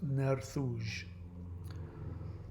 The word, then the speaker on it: Nerthus: CRA, Nerthus was the way it was written, but it's believed that the Latin version, Nerthus, was actually pronounced Nerthuj.